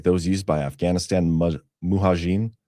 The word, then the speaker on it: Mujahideen: Armed forces envision insurgency tactics like those used by Afghanistan Mujahideen. How do you say that, Ghost? Mujahideen?